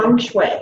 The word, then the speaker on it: feng shui: spiritual director, soul-centered life coach, pastor, hospice chaplain, feng shui, I don't even know if I'm saying that right. How do you say that, Amanda? Feng shui.